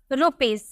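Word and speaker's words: rupees: next हम हम देखें अगर हमें लिखना हो रुपीज रुपीज को यहां पे हम इसे ज में प्रोनाउंस करेंगे क्यों क्योंकि एस से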